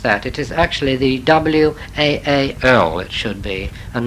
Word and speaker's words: Waal: It is actually the W-A-A-L, it should be, and not W-A-L-L. I suppose in German, no, Dutch, it's pronounced something like Waal, you see. The Waal River.